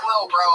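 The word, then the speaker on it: Lil Brough: He spells bro with 3 silent letters at the end.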